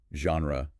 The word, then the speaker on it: genre: Or maybe genre with that unexpected ZH sound or comfortable with its vanishing syllable?